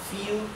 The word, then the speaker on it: viel: Solamente que la B corta, la V, en alemán se pronuncia como la F.